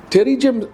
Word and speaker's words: pterygium: writing terri has uh P in its spelling, but it's actually pronounced with a T. So, it's a silent P. And terrium can be described as a fleshy growth on the surface of the eye.